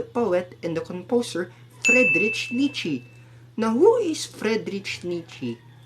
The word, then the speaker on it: Nietzsche: In German, we pronounce his name as Nietzsche. Friedrich Wilhelm Nietzsche. It's not Nietzsche, it's Nietzsche.